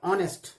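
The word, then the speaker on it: honest: Like ऑनेस्ट, ऑनेस्ट एज you know कि H silent होता है, तो ऑनेस्ट में ओ साउंड निकल रहा है, सो इसमें एन लगाएंगे।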